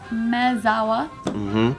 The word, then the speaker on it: Maezawa: Yeah, so this billionaire, his name is Yusaku Maezawa. Maezawa. Maezawa. M-A-E? Maezawa. Maezawa. Maezawa. Maezawa. Maezawa. It's just like Spanish, you know that, right?